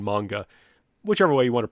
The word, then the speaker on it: manga: in the United States in Japanese they would say manga and I study some Japanese I'm just more comfortable saying manga whichever way you want